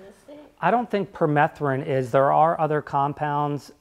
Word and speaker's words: permethrin: I was going to ask if it's been thought about to spray permethrin, is that how you say it? Permethrin, yeah. Permethrin.